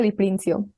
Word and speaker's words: Di Prinzio: pregunta es quién eres tú quién es de princio Y corrígeme si pronuncia ma tu apellido por favor no está